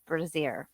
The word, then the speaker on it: Brazier: forward with the trial I have been mispronouncing his last name it's braier and I think before i' had been saying braier but it's braier all right let's go